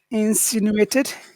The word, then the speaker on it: insinuated: Insinuated. Which syllable has all of the power? Sin. Sin. Insinuated. No, it's sin.